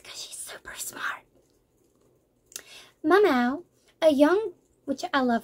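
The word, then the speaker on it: Maomao: Mamao, a young, which I love her name. I'm probably saying it wrong, but as it is written and the way I think it's pronounced, it sounds like meow meow.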